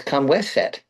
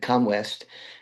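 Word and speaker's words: Khaemwaset: of his ushabtis that that's not how you spell it. It's Kamweset, and Ah, it's not that different. Good old E. Wallace Budge pronounced it Comwest, and I looked and I saw, well, I'm not reading that. I saw the CHA or the KHA, but then I saw Waset, not West.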